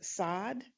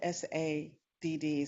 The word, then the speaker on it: Sadd: Sadd. It's spelled SADD, so I want to say sad, but it's Sadd.